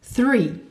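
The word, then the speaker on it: three: Le TH se prononce th. Il te suffit de placer le bout de la langue contre les dents du haut et de souffler. Th. 3.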